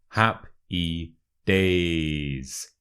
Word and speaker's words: Happy Days: now you know what Happy Days means let's look at the pronunciation quickly so with the word happy the stress is on the first syllable so hap e hap